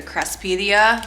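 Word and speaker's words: Craspedia: These are called, I call them billy balls, but the pronunciation for them is like a crespidia. That's like the actual term for them.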